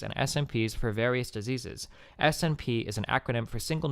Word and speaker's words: SNP: SNP is an acronym for single nucleotide variant, pronounced like the English word SNP.